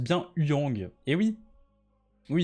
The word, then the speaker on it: Huyang: Il se prononce bien Huyang. Et oui. Oui, il se prononce pas Wu-Yang. Hein. Wu-Yang, ça fait bizarre, c'est Huyang. Avec un H soufflé.